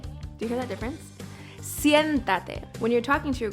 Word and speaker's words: siéntate: In terms of pronunciation, think of the English word si, add an N, and then tate. But make sure that T is soft.